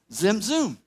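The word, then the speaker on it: Tzimtzum: we said stop now how would you pronounce TZ i m TZ um Zim zoom perfect thank you you can make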